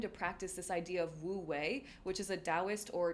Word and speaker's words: Wu Wei: And if you're interested, it's spelled W-U-W space W-E-I, Wu Wei.